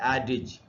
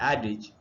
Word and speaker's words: adage: देखिए, जो पहला वर्ड है वो है एडिज, ADAGE, और इसका करेक्ट प्रोनाउंसिएशन है एडिज।